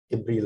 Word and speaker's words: إبريل: إبريل. I have this Hamza under the alif. It means that it's pronounced A.